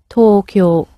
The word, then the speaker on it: Tokyo: to tokyo tokyo the tokyo although we anglicize it say it in an english way it has two long sounds to it so talk your if we wanted to